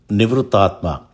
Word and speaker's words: Nivṛttātmā: Nivṛttātmā. It also can be interpreted as anivrūtātmā. This name can be pronounced in two forms, nivṛttātmā and anivrūtātmā.